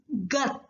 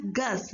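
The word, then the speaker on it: 것: We have to pronounce this one as gus, right? We already discussed if any syllable ends with sa sound, we have to pronounce it with ta sound.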